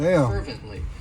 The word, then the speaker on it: fervently: one of my favorites fervently it has three syllables and the stress is on that fervently and what it means